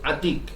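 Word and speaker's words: عتيق: Yang pertama yaitu Atiq. Atiq siapa? Ain, ta, ya disukun, kemudian apa? Qaf. Atiq. Ya. Pakai qaf ya, bukan pakai kaf. Tapi pakai apa? Pakai qaf. Atiq.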